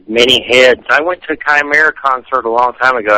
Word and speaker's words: chimera: long time ago that I always say it wrong because I'm from Georgia Chima Chim it's Chimera that's right yeah what what